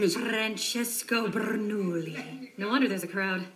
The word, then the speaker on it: Bernoulli: Francesco Bernoulli. No wonder there's a crowd. Wait, why do you know his name? Don't say it like that. It's 3 syllables, not 10.